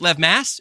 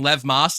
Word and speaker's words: Lev Mass: pronounce your name please Lev Mass it's spelled like Mass but I keep saying Lev Moss like you're an off brand Taco Bell um yeah so Liv